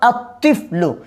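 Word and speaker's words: الطِّفْلُ: যেমন আত্তিফলু, তিফলুনের সাথে আলিফ লাম যোগ করলাম, কি হবে? আত্তিফলু। লেখার মধ্যে আসবে কিন্তু উচ্চারণে আসবে না।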